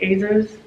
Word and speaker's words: Azores: But they were in, I think it's pronounced Azores, their island off of Portugal.